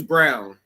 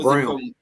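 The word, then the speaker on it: Braun: the playoffs um oh Brown who can't Brown the dude yeah it's like brown but it's not spelled like brown I thought it was like brown yeah Christian his name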